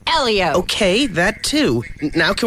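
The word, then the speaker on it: Hélio: who's very hot and it's pronounced Elio okay that too now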